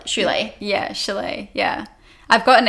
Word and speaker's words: Shule: The actual pronunciation is Shule.